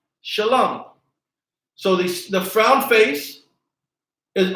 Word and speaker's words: Shalom: it's being connected and here is the word Shalom sha love Shalom so the frown face